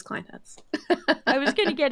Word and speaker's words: Clinehens: how do we pronounce your name, and tell us all about you? It's Clinehens, but don't worry because nobody gets it right. I usually get Clinehens.